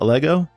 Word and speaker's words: Allegro: it started what is a lego am i pronouncing that right first of all a lego lego the name of the company is is